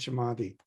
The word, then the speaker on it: Samadhi: Dhyana and Samadhi.